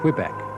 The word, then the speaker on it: Quebec: which means narrow River here is closer to the French than the English pronunciation Quebec obviously derived from its spelling but the st.